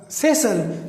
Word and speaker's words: thistle: या like Thistle, THISTLE, thistle. तो इसमें भी ये साइलेंट है.